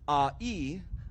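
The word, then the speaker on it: ʻāʻī: But because your neck in Olelo, Hawaii is pronounced as a'i, a lei a'i is specifically a lei that will go around your neck.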